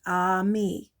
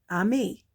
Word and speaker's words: ami: French the word is Ami mom says you say it like this ah me a me I love French everything